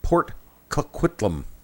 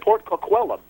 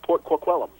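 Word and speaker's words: Port Coquitlam: I hope I pronounced that right. No, no, no. You mispronounced that. I actually know that. Okay. Port Kquellum. Thank you. I actually know that uh from listening to Smadcast. Shout out to Wicked. Yeah, it's Port Quellum.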